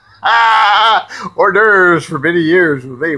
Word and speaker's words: hors d'oeuvres: Some of them I couldn't even pronounce right, like whores the overs. Hors d'oeuvres for many years when they were whores the overs.